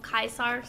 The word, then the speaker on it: Caesar: personal guess is that they never told the V how to pronounce oh oh kaisar Caesar and only those with some knowledge about Latin actually pronounce it correctly and the rest just use the pronunciation that's fine to be